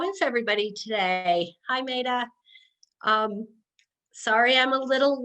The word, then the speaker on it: Mayyadah: And please tell me I'm pronouncing your name correctly. It's Mayyadah. Mayyadah, I am so sorry.